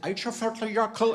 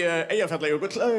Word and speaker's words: Eyjafjallajökull: a week everyone was like, how do you pronounce that? Is it Eichafjörðjarkl? And we could be like, oh, let me tell you how to pronounce it. It is actually Eyjafjallajökull.